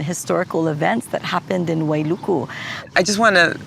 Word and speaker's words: Wailuku: and I want to ask you the correct pronunciation. Is it Wailuku? You got it. Yeah. Okay. Wailuku. Yes. Wailuku.